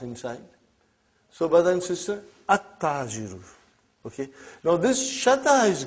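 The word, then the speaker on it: التاجر: How will you pronounce this now? At-tajiru. You did not pronounce al. You did not pronounce lam.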